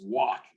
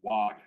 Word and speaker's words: wak: In Miami, Illinois, the word is wak is pronounced wak, and it's not pronounced wag.